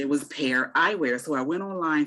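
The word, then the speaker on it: Pair: Am I pronouncing that correct? Pear Magnetic eyes? glasses. Yeah. Pear eyes. P-A-I-R, eyewear. P-A-I-R. Pear Eyewear.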